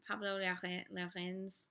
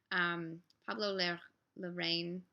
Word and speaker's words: Pablo Larraín: Pablo Larraín. I'm saying this as if it was French. He is not French. Pablo Larraín.